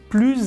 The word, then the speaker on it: plus: En général, dans une comparaison, on ne prononce pas le S de plus ou de moins, sauf quand le mot suivant commence par une voyelle. D'ailleurs, la prononciation sera Z. Plus beau que, plus intéressant,